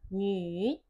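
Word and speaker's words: 女儿: New nu tulisannya tapi u-nya itu u umlot. Jadi kita bacanya nyer.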